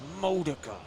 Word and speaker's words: Modica: place which is uh correct way to pronounce his name is Modica Modica while you shake your fist